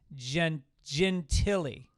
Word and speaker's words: Gentile: Also, he's telling me that I can't pronounce his last name, which is spelled Gentile, and apparently it's Gentili. Gentili lace.